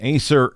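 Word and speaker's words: Æsir: mythology Thor is an Acer God I believe I said that right I looked it up and that's how they said to pronounce Acer uh Acer God associated with thunder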